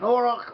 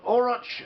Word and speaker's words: auroch: An auroch, or oroch, however you want to pronounce the word, an auroch, was a